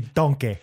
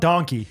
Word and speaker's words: Donkeh: It's not donkey. It's not donkey. Like, it's D-O-N-K-E-H. Donkeh. Oh, K-E-H, yeah. Yeah. Or you like, and people be like, you mean donkey? No. You're saying it wrong.